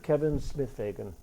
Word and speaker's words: Kevin Smith-Fagan: Kevin Smith-Fagan.